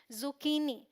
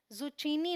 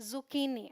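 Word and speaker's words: zucchini: क प्रोनाउंस करेंगे तो यह है जुकनी जुचीनी नहीं बोलना है जुकनी ऑलराइट ध्यान रखिएगा फिर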